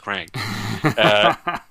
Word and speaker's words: QRANK: him like you know it's actually pronounced crank and they went no